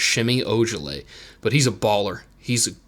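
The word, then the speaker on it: Semi Ojeleye: l ey e so but it's pretend it's pronounced shimmy urgently but he's a baller he's he's really good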